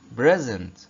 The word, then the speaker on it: present: لاحظ كمان ان ال SE هنا بتتنطق ايه؟ بتتنطق زي حرف الزد. نطقناها ازاي؟ present present.